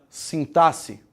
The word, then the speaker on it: sintaxe: Qual é a maneira correta de falar essa palavra? Sintaxe. Sintaxe. Tem gente que fala sintaxe. Sintaxe está errado, tá?